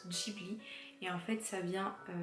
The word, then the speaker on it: Ghibli: juin 1985 du coup cela en fait se prononcent chibli et en fait ça